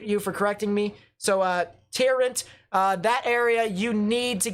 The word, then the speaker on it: Tarrant: It's pronounced Tarrant, not Torrent.